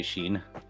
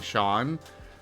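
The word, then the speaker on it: Sean: s a an but people will say Sheen but it's actually Shan I know there's one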